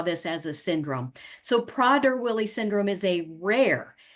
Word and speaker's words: Prader: is PR willly syndrome well um the pronunciation pronunciation is prder um that it's named after three actually Four Swiss um physici s who saw this as a syndrome so prer Wily syndrome is a rare uh noninherited gentically